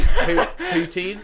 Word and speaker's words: poutine: Is it poutin? Poutine. Poutine. Poutine. That's it. Sorry, mispronounced.